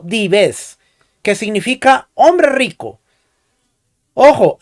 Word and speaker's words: dives: le dio el nombre de dives pronunciado dives que significa hombre rico